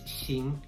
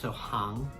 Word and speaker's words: 行: the screen somewhere here which has two pronunciations it's xíng and háng pronunciations and it will depend entirely on the context so for example the